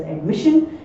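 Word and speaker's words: admission: कोई आर नहीं है, तो इसीलिए इसका जो प्रोनाउंसिएशन है वो शन होगा, दैट इज एडमिशन।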